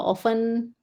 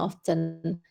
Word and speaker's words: often: Ini t-nya tidak disebut ya. Jadi, how often how often do you go walaupun ada juga di British itu menyebutnya often.